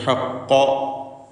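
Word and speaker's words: الحق: അന്നൽ ഹഖ്ഖ, ഖാഫിന് പൂർണ്ണമായ തഫ്ഖീം കൊടുക്കണം. ഖവിയ അക്ഷരമാണ്, ശിദ്ദത്തുണ്ട്. ഹഖ്ഖ അതിൻ്റെ മഖ്റജിൽ നിന്ന് വ്യക്തമാക്കി ഉച്ചരിക്കുക, തടിപ്പിച്ചുച്ചരിക്കുക.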